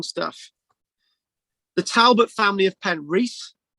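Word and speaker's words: Penrice: the talbot family of penn wreath or penn rice castle i'm told i've got to pronounce it because pen racism around the valley pan rice is on the gower was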